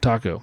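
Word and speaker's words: tako: And it's funny because the word is what in Japanese for octopus? Taco. So you have taco salads, but they're not at all what you think. But this taco is spelled different. It is spelled different. It's spelled T-A-K-O.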